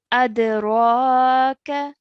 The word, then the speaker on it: أدراك: Over here, the ra needs to be stretched for 2 counts, and the kaf needs to be stretched for 1 count. Okay, the ra has a vertical fatha and the kaf has a fatha. So you mix those 2 sounds with one another.